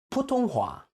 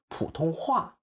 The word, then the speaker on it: 普通话: He did it with 普通话. It should be 普通话.